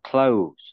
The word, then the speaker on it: clothes: Cloth, cái từ này thì đọc là clothes nhá. Clothes. Clothes. Đó. Clothes như là cái từ đóng ấy. Z đấy nhá, đó là clothes.